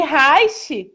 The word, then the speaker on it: Reich: O Reiki é R-E-I-K-I. E Reich, que é o sobrenome do William Reich, que é o pai da psicologia corporal, é R-E-I-C-H. Então, a pronúncia é a mesma.